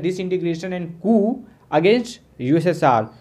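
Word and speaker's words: coup: Next है who played an important role in the disintegration and Koo against USSR. इसको कूप नहीं पढ़ेंगे, P silent है, कू पढ़ेंगे। ठीक है, तो सोवियत लीडर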